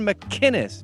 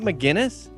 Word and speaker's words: McInnes: Why can't you do a hard C on McInnes? Gavin McInnes, not McGinnis.